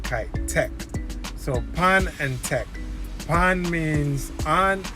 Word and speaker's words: pon: is really means on, O-N, but in Jamaica it's spelled, or in the lingo, it's pon. So you would add a P, like Peter, before it. So it's P-O-N, pon.